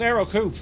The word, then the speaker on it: Ercoupe: right the Aro coup e is silent so it's Aro coup but that Americans say